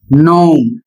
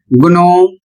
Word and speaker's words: gnome: जैसे यहां पर लिखा है जी एन ओ एम ई और इसको पढ़ा जाएगा नोम। इसका सही उच्चारण होगा नोम। यदि आप इसको गुणो या इसके अतिरिक्त कुछ भी आप पढ़ते हैं तो वह गलत है।